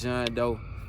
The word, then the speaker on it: Jean D'eau: go tap in with John Doe. My website, John Doe Music. Actually, my new website is Who Is John Doe, and it's spelled JEANDEAU.